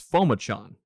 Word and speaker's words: Fomachan: I think I butchered his name last time, and I thought was 100% confident in it. But then listening to the radio call, it's Fomachan.